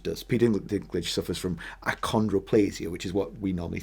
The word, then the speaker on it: achondroplasia: I think it is the how'd you pronounce it? Achondroplasia.